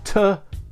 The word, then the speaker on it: To Øl: one to 2l so you might want to just call it tool but it's actually 2l and I believe Ale